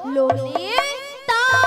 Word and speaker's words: ললিতা: বলে লালাই লালাই ললয় ললয় লালাই লালাই লালিতা। মাসি ওটা লালাই লালাইও নয় আর ললয় ললয়ও নয়, বলো ললিতা।